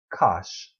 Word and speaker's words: cosh: over two hyperbolic cosine i pronounce cosh like posh but gosh it's defined as the